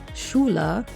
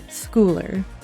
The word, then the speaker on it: Schooler: So I keep wanting to say Dr. Larry Schooler, but I'm keeping myself under control. It is Schooler.